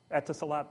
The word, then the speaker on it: Etisalat: I don't know how to pronounce it. Etisalat, thank you.